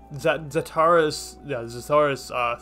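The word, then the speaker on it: Xataris: X is pronounced as a Z. Zataris Spring in Temperantia.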